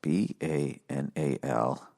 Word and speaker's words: banal: Banal. Pronunciation.